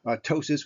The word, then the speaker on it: ptosis: So ptosis with a silent P, meiosis, and ophthalmos.